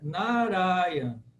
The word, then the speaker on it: Narayan: Então as 3 primeiras sílabas elas são longas. Desculpe, as 2 primeiras, né? Narayan, Narayan. Então as 2 primeiras ele alonga, Narayan. Então é uma maneira cantada, na verdade.